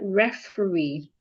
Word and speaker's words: referee: The state stats try big words ending in e and e r are also stressed on their third syllables. So for example, if I have the word referee referee, the word is referee.